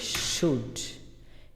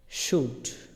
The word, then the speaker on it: should: SHOUL আছে, এলের কোনো উচ্চারণই আমি করলাম না, এটা কেমন জানি হইল না?